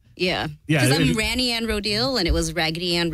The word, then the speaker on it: Rodil: is it not yeah it's actually my last name it's rodel randy kind of like rodildo but really well the